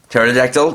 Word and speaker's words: pterodactyl: a silent P at the front like in pterodactyl Pteranodon or Pteranodon and it's kind of thing